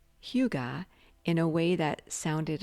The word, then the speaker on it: hygge: It's not hygge, it's hygge.